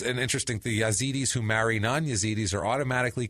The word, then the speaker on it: Yazidi: Yazidis. That's the pronunciation that I have most heard the most. Yazidis.